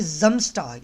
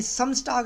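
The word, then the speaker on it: Samstag: ये जम्स pronounce होगा। जितना भी एस होता है आपका जर्मन के अंदर, मैंने शुरू में बताया, वो एज ए जेड प्रोनाउंस होता है। ये एस नहीं है, ये जेड प्रोनाउंस करते हैं हम जर्मन में। तो ये जम्स टाग है, ये सम्स टाग नहीं है, ये जम्स है।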